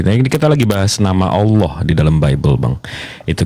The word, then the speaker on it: Allah: l kan iya iya nah kalau double l dalam e kaidah bahasa tuh ditekan Bang Allah bukan Allah kalau Allah tuh lnya